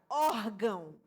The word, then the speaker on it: órgão: Ógão é uma palavra paroxítona e ela tem acento no o. uma palavra que a a sílaba tônica, né, é a penúltima sílaba, órgão, que aqui nesse caso, que é uma dissílaba, é a primeira sílaba, órgão.